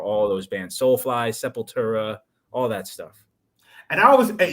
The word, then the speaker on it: Sepultura: who got me into Sepultura was Brazilian himself. Yeah, of course. So I pronounce it that way. the real way, yeah, Sepultura.